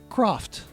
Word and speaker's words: Croft: Um, or as I like to call it, Laura Craft, Tomb Raider, part two. Laura Craft. Croft. There you go.